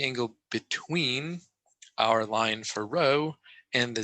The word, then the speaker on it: rho: It's, you know, pronounced row.